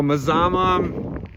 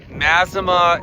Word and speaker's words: Mazama: I've been told how to say the name of this town. Three different ways. There's I don't even know. Mazama, Masimma, and some other way that only the locals call it like Misama.